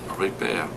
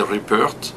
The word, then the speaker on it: Ripert: You don't pronounce the T in French. You never? You say Ripert. In English, I say Ripert. Yeah. If not, they believe I work for a repair company.